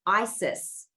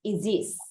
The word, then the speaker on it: Isis: know how people say Goddess Isis yes not pronounced Isis oh it is pronounced is this this is what I said is this so